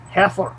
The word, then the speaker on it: Xeper: The real pronunciation is heifer, as if it were spelled with a KH.